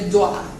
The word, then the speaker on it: dois: Porque não pronuncia o S. Não pronuncia o S. Jamais. Jamais pronuncia o S, certo? Então fica je dois.